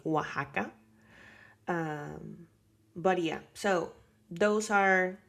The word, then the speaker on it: Oaxaca: But there are some words where you need to use the X as if it were a J, like Oaxaca.